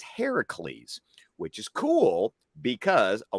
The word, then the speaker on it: Heracles: Heracles is the way you say the name in Greek. Hercules is derived from Latin, which would be the Roman name of the character. So the fact that they had him pronounce it as Heracles is actually more authentic if we're doing this based on the Greek origin of the stories.